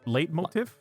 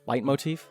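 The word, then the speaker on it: leitmotif: Late light late motif. Light motif.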